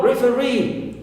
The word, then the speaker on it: referee: And also referee, double e at the end, long e. Here also third syllable is stressed.